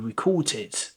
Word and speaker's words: record: For example, how many records have you recorded? So record is a verb and record is the noun. So record, records, record, records. So they have the same spelling. They have different meaning and different pronunciations.